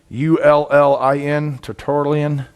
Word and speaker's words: Tertullian: Terullin, Tertullian.